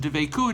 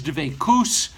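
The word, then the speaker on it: דבקות: As a matter of fact, frequently the term isn't dveikut, it's dveikus, kind of like an Ashkenazis pronunciation to make things seem like we're back in medieval Europe.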